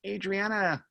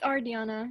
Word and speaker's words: Ardiana: Adriana, looks like I don't know how to say the last name. Adriana, how do I say the last name? It's Ardiana, and the last name is.